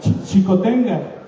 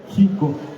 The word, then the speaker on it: Xico: página 142 dice cha chicota la x se pronunciaba como J también entonces por eso algunas personas dicen jico pero chico total ahí dice Jenga